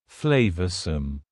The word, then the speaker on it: flavorsome: and full of flavor notice the pronunciation to schwas sounds there flavorsome the sauce proved incredibly flavorsome